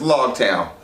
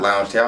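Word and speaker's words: Loguetown: this real quick huh it's log town log town not lounge town i'm not sure where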